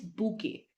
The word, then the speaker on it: bouquet: bouet it's not bouet or bquate the correct pronunciation here is bouquet Bou moving on breakfast breakfast we've heard breakfast